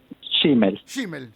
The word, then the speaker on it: Schimmel: Así no lo pronunciamos mal. Schmil.